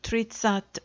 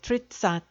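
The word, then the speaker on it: тридцать: go up to 30 which is tradition or three tens but generally shortened in pronunciation to tritsat or tritsat all the other tens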